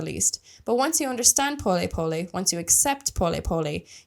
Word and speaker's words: pole pole: po spelled like pole pole in English but pronounced po po it's Swahili in the Swahili language which is